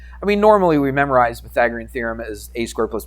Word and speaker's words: Pythagorean: Close. It's Pythagorean theorem. You basically got it. I would have known what you were saying, but you just didn't quite pronounce it exactly.